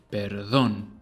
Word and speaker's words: perdón: Put the emphasis on the O, because that's where the tilde is. Perdón.